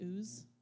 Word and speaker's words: Uz: I like to say Uz, personally. It's just a personal preference.